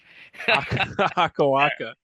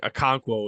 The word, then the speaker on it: Okonkwo: Akawaka. Everyone get a good laugh at that. I think Okonkwo would be the correct pronunciation. If I think that's right.